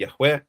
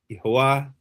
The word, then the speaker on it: Yahweh: But the name of God is clearly pronounced Yahweh. The idea that it's pronounced Yhovah as one particular kite is promoting is it's